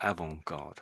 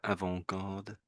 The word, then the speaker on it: avant-garde: should, because it's more avant-garde. Avant-garde. Well, But you said it the correct way. Sort of the T is silent pretty much, but some Brits will say the T, probably because of naivety, I guess.